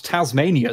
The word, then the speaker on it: Tasmania: know how to pronounce Tasmania somehow okay you can talk smack about Tasmania all day no one in Australia cares but it is pronounced Tasmania saying that though that